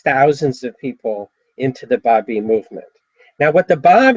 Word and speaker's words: Babi: the Bobbine movement? Babi, Babi, Babi. Thank you. It's like Christian is from Christ, okay, or Buddhist is from Buddha.